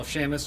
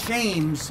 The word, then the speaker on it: Shames: And also I'd like to have Colonel Shamus, a World War II hero, come up here as well, please. Well, I'm going to say it first. Sir, the name is Shames.